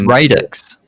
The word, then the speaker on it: Radix: It's Radix. Radix. We asked Stephen. That's how I pronounce it, but it means the origin or the impetus or something for the start.